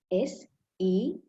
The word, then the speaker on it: Senodi: It S-E-N-O-D-I, Senodi. Usually, most of the people do not pronounce my name correctly.